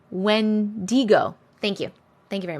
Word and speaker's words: Wendigo: say that he does go through um not when dingo wendigo thank you thank you very much I'll probably